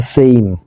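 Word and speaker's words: same: একটু কিন্তু ডিফারেন্ট রয়েছে দেখো এটা সেম আর এটা হচ্ছে সেইম অর্থাৎ ই আই সাউন্ড আসবে এরপর দেখো হি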